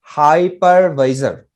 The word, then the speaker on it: hypervisor: i did it okay so uh the correct pronunciation is called hypervisor high par hi level if you just break